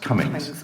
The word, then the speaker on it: Comyns: I It's think spelt so. Comyns, but it's pronounced Cummings. I think that was how I was told to pronounce it, By unless whom?